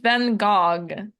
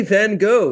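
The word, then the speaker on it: Van Gogh: go take a guess they say van go yes like the G and H don't exist at all at the end what is this French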